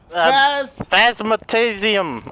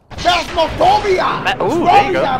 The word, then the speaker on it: Phasmophobia: Phasmatasium. I have no idea. Phasmophobia!